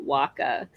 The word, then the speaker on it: WCA: which is WCA and we usually pronounce it Waka um and I made a